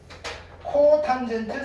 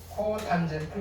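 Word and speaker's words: cotangent: COT 세타라고 쓰고 뭐라고 읽을까요? 코탄젠트 세타라고 읽어요. 코탄젠트 세타. 그렇죠?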